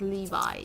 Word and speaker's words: Levi: So what we're gonna go ahead and do, which I was calling Levy at the start, but it's Levi. You can pronounce it as Levi or Levy, but I'm gonna pronounce it as Levi.